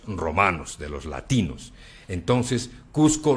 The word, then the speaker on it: Cusco: de los latinos entonces cusco nunca fue pronunciado cuzco jamás además porque en que